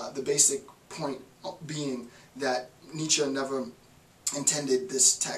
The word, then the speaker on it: Nietzsche: side note, I recognize I was pronouncing his name incorrectly in the first installment. I said Nietzsche, it's Nietzsche. Well, this marks the beginning